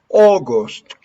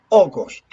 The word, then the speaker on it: August: when you pronounce the month of August the correct pronunciation for this Au is oh August not August no August